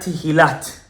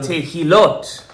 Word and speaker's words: תהילות: Not Tehilat Le'el Elyon, but Tehilot.